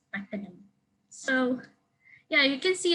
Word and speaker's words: Pakenham: And this station, the name of the station is apparently not Pakenham, but it's Pakenham. So yeah, you can see that the name Rowan and Pakenham are not common in